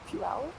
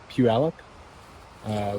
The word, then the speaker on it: Puyallup: Puyallup. Puyallup.